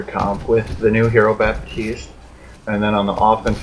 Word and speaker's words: Baptiste: It is Baptiste. I believe that's how it's pronounced. Baptiste.